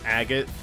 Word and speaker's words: Agate: of the blades and her name was agate again you know just like that so i already had my bout of mispronunciation prior watch out guys leave it to me it's actually a gate well that's actually